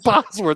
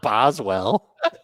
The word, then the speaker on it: Bosworth: Yeah, Oh, it's Bosworth, not Boswell.